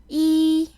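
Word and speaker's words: 一: The character is pronounced E. See how the sound has nothing to do with the character?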